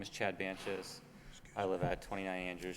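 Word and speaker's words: Bantjes: Banches. You spell that?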